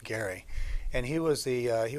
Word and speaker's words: Gerry: his name is Garret last name is pronounced Gary and he was the